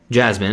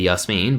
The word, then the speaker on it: Yasmin: Jasmine is supposed to be Yasmin, but again, whatever, we let it slide.